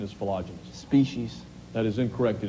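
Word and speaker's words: philogynist: Correct pronunciation is philogenist.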